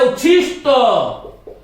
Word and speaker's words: उच्छिष्ट: इसी प्रकार से एक शब्द है उच्छिष्ट, उच्छिष्ट ट। अब ये ट और ठ वाला उच्चारण यदि हमारा ठीक होगा तो हम इसको शुद्ध करेंगे।